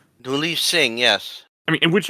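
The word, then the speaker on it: Duleep Singh: Uh there's the Dun I think is it Dunle missions? Is that how you pronounce his name? Die Singh.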